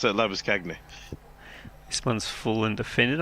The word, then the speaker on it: Labuschagne: Yes, I have to think to pronounce it Labuskagny.